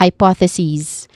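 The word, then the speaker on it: hypotheses: The plural form or equivalent of it is pronounced as hypothesis with a short e vowel sound at the end and a buzzing sound as well.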